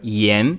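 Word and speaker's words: 言: Em mandarim ela se pronuncia yan e ela aparece quando Lao Tzu diz que Tao é um ensinamento sem palavras, o Yan Zhi Jiao.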